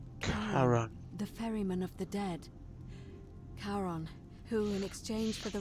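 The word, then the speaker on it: Charon: it's just as you described it only your pronunciation is a little off the name you heard wasn't karen it was c c-h-a-r-o-n as in the ferryman of the dead karon who in exchange for the right coin helps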